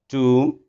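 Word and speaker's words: tomb: And one thing more, M और B जब भी आ जाते हैं साथ, तो हमने M के बाद निकालनी B को साइलेंट करना है, जैसे बॉम्ब, कॉम, टूम, लिम, एटसेट्रा.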